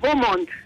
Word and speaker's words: Beaumont: ¿Cómo se pronuncia bien? Hola, Julio César, Beaumont.